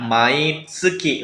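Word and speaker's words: 毎月: Selanjutnya, untuk menyatakan setiap bulan, itu pakainya mai tsuki minasan. Jadi kanji bulan ini dibacanya tsuki.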